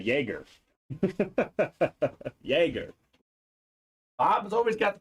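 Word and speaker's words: Jaromír Jágr: That's what I said, Jaeger. Jaeger. Bob's always got the pronunciation down. Jaromir Jager. Yager.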